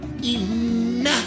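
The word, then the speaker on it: إِنَّ: Inna ini nunnya bertasdid maka dibaca gunna atau dengung inna.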